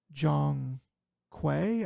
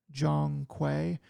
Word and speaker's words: Zhong Kui: This one is called Black Myth Zhong Kui, I think is how he actually pronounced it. It looks like Kui to me, but it's Black Myth Zhong Kui.